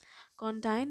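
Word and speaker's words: condign: right so you can spell it you can pronounce it like condyne is an adjective in hindi it means uchit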